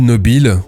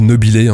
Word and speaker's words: Nobile: Orchidée impériale Gold Nobile, ou Gold Nobilé, vous le prononcez comme vous voulez.